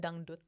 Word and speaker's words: dangdut: It's called dangdut. Oh, how do you spell it again?